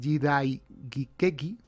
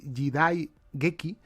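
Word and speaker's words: jidaigeki: Es decir, estamos hablando de que aquí en esta palabra, en esta palabra japonesa y jidai gikeki, la he pronunciado mal, es jidai geki, ya está la palabra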